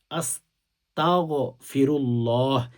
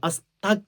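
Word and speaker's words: أستغفر الله: আল্লাহ পাক রব্বুল আলামিন বলেন, যে বান্দা ইস্তিগফার পাঠ করো, ইস্তিগফার আরবিতে পড়লে আরবিতে পড়বেন আস্তাগফিরুল্লাহ, আস্তাগফিরুল্লাহ। আস্তাক বলবেন না, কাফ দিয়ে অনেক উচ্চারণ করেন, এটা ভুল।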